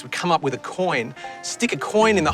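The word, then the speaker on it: quoin: of the building but it's called a coin it's spelled with a Q not a c coin is really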